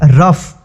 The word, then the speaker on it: rough: यहाँ पे आगे देखेंगे कभी कभी GH से फ का भी उच्चारण होता है। जैसे यहाँ पे देखिए ROUGH, क्या है इसको पढ़ते हैं हम रफ।